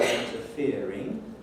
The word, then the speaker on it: interfering: well hope think and the third syllable of the word interfering i hope you don't